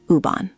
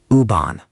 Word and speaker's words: U-Bahn: Die U-Bahn. Die U-Bahn. Nice, clear and confident. The pronunciation is pretty straightforward. Just remember that the U sounds like oo in English.